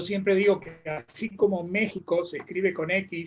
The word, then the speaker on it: México: digo que así como méxico se escribe con xy se pronuncia con jota próximo se escribe con